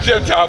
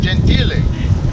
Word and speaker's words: Gentile: award, I said, well, my last name is pronounced Gentile. Mayor looked at me and he goes, stop. No one's ever called you that.